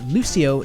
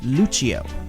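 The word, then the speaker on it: Lúcio: And quickly before we get into Lucio's backstory, the pronunciation of his name is the Portuguese pronunciation, which is Lucio, not the Italian pronunciation, which is Lucio.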